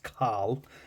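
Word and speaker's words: Kâhl: I'm going to assume it's pronounced Carl uh because there's an accent over it and um he looks like a Carl to be quite honest, you know.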